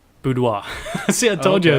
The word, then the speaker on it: boudoir: so she actually does I always say this wrong bow doer no way no sorry boudoir let's see I told